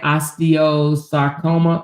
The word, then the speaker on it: osteosarcoma: Osteosarcoma.